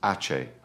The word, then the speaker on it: ache: Next is ache, like the word cake without the C.